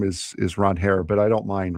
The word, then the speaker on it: Ranger: That'll be the Saturday game at 1:00 and then Walker Beller will take on Ron Hair Suarez on I'm sorry. That's how he pron That's how you pronounce his name.